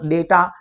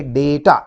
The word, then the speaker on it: data: नहीं किया है, बस डेटा, फिगर्स, इंफॉर्मेशन है हमारे पास, तो उसको हम लोग बोलेंगे डेटा या डाटा। कुछ लोग डाटा भी बोलते हैं, डेटा भी बोलते हैं, both the pronunciation are correct.